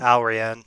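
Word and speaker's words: Allrianne: That's how you pronounce it. Alrian.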